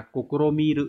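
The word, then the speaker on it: 試みる: Và một cách đọc khác của chữ thí đó là nó đọc là kokoromiru nha.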